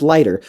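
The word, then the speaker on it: Laigter: supposed to be pronounced lighter but this word don't got a h in it also there's a a in it I think it's supposed to be lighter the name aside the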